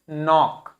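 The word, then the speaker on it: knock: के लिखा है उसके बाद एन लिखा है तो क्या बोलेंगे? नॉक।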